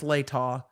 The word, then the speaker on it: Latah: Okay, remind me when I forget how to pronounce Latah that it's Latah. This is why I love press conferences, because I learn how they pronounce Moscow, not Moscow, Latah, not Latah, or whatever.